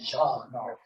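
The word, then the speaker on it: Jean: speed wrestled his uh they pronounced it was g j-e-a-n i think they pronounced john federer he was the french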